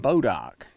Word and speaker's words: Bodock: People around here call it Bodock, which is really an adaptation of a French word that's spelled B''DOIS DOC.